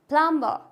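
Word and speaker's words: plumber: like थम तो थम में क्या है बी साइलेंट क्लिम कॉम क्रम लैम थम प्लंबर क्या हो जाएगा ये प्लंबर क्योंकि एम के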